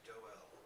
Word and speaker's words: Doel: As it is pronounced to rhyme with the French word Noël, I think there may be a possibility that it originated in France. Yours sincerely, Frank Doel.